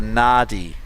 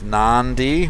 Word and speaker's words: Nadi: Is it Nandi or Nadi? Mick and I are having a debate over this. I believe it's Nandi with an extra N that's not there.